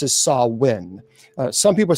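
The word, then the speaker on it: Samhain: Uh it's officially pronounced as sawin. Uh some people say it's Sam Hayne that well we saw that on on the Halloween movie they pronounce it as um Sam Sam Hayne.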